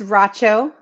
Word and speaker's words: Racho: So my last name is Racho. It's like nacho, but with an R.